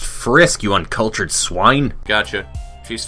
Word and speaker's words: Frisk: so all right cool she's Fritz from undertale his name is pronounced frisk you uncultured swine gotcha she's filled with determination